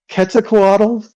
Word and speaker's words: Quetzalcoatl: The TL, you're supposed to like a weird like sound.